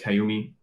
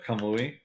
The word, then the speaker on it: Kamui: And the spirits, the Kayumi. I'm not saying it right. What is it? The Kamui. Kamui. Yeah, Kamui.